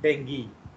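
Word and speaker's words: dengue: Actually वो डेंगू नहीं है, वो डेंगी है। डेंगी, डेंगी। तो उसका प्रोनाउंसिएशन है डेंगी, बट 90% लोग, इवन डॉक्टर्स, उसको डेंगू बोलते हैं।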